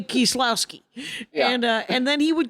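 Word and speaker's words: Kieślowski: Kieslowski? Kieslowski is what I say it. Kieslowski. Yeah. But Kieslowski would be how he would say it if he lived in Wisconsin in the 70s. He'd say Kieslowski.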